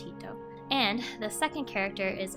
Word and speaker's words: 人: word means one person the first kanji is pronounced as hito and the second as